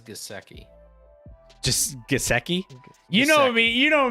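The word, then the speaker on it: Gesicki: that's just my opinion i like gsky but i think it is gaseki you know me you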